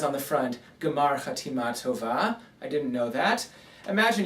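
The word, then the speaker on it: גמר חתימה טובה: Gemar Chatima Tova, or Gemar Chasima Tova, if you do it quickly with a more Ashkenazi pronunciation.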